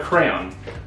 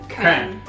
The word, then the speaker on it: crayon: With one syllable, rhymes with man. Crayon. Maybe that's what they were trying to teach you. With two syllables, sounds like crayon. Where the second syllable rhymes with dawn. Crayon. Oh, that's our one. And then the last one is sounds like crown.